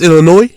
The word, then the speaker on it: Illinois: It's S in Illinois. You don't pronounce it. It's Illinois. Yes.